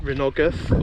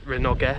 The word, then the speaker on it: Rhinogydd: again forgive my pronunciation so the renogaf or renogue renogies I think it's pronounced um is a sort